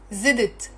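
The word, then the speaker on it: زدت: added to it so I add it is zidit and it's really difficult to pronounce it as one syllable word because it's zit Z and you can't say zit it's like you know unnatural so even Lebanese speakers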